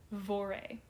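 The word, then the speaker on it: Voirrey: Margaret, the mother, and a 13-year-old daughter named Vore. And I checked the pronunciation on that, and that is what the internet told me to say.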